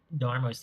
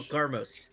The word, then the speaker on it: Garmos: introduce my new Chirurgeon alchemist, Darmos here. Oh, no. yes. Oh my gosh. No, Garmos. Garmos. No, Garmos. but The J is toxicologist. pronounced like a G.